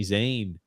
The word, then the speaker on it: Zayn: who Sami Zion is it's Zayn you said it actually you said it right I was stunned you